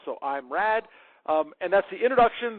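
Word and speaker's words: IMRAD: There's another tech ordering technique called I am RAD. Um, which is the way I've heard it pronounced. So I'm RAD.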